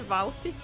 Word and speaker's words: Vauhti: I mean, you just say Vauhti, but Vauhti? Yeah, Vauhti, but it's fun to say it as Vauhti.